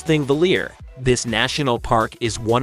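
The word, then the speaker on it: Þingvellir: the ecosystem number six ingvalier National Park Iceland pronounce thingvelier this National Park is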